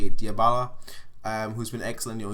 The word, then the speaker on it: Dybala: have been Dybala, that's how you say it, Dybala, who's been excellent.